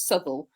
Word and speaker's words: Southwell: in I don't know you can either call it southwell in Nottingham sh or SEL um the the correct name is souel but the it's spelled southwell the correct name is souel but unless you're local to South southw and then you call it southw and um there's there